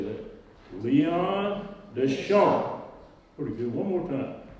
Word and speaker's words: Deschamps: S is silent, but we retain the P. And we say Deschamps. Now let's all say that. Leon Deschamps. Pretty good. One more time. Leon Deschamps.